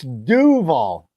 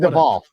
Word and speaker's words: Duvall: you said it wrong it's Duvall it's not Dev say Dev you said Devol yeah I don't care